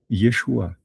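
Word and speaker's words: ישוע: Yodé Shin Vav, on sait que ça se prononce Yeshua et Yeshua, c'est le nom hébreu de Jésus.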